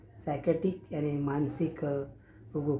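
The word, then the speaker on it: psychiatric: तो साइकेट्रिक में स्पेलिंग शुरू होता है तो पी से शुरू होता है इंग्लिश में, लेकिन पी साइलेंट रहता है और हम बोलते हैं साइकेट्रिक यानी कि मानसिक रोग।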